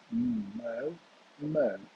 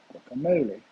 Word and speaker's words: guacamole: So we've got a starting sound here. G. That's interesting. K, and here's our stress. So it's going to be guacamole, guacamole, guacamole, guacamole, guacamole, Guacamole.